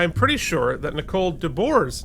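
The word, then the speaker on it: de Boer: Keith and I am pretty sure that Nicole Dbor's name is pronounced Dbor like the animal. I think I'm sure you're right. I just uh I just took a guess. So I will be hopefully correctly saying debor from now on much like this episode.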